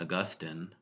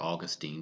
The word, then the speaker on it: Augustine: In fact, actually, where this comes from is St. Augustine, or Augustine, depending on how you say it.